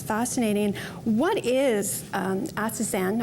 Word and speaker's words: astaxanthin: What is astaxanthin? I think I pronounced it right, astaxanthin. Astaxanthin, yes.